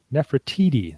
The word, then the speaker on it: Nefertiti: keep correcting me and I still haven't learned Nefertiti there we go got it right finally so